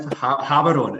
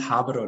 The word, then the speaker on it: Gaborone: Yeah, pronounced Gaborone. It's pronounced Gaborone now.